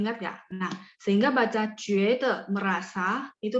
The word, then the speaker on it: 觉得: Nah, sehingga baca 觉得 merasa itu bacanya 觉得 itu merasa.